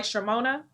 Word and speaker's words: Chioma: And by the way, Yolanda's company is called Imagery by Shimona, and it's spelled Chioma.